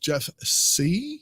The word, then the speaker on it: Jeff Sieh: We started off this the year with Jeff Sieh. Is that how you pronounce his name?